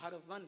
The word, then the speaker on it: ہرون: چنانچہ اسی تلاش حق میں آپ نیشا پور کے قصبے ہارون پہنچے، جس کو اکثر علماء یہ فرماتے ہیں، بتاتے ہیں کہ یہ ہرون ہے صحیح تلفظ اس کا، لیکن ہارون حضرت آپ